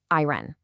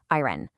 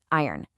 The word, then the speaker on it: iron: Now, it's so tempting to pronounce that R O N at the end, which makes it sound like this. Iron. Again, the error is iron. But the correct way is actually much smoother. It almost swallows that O sound.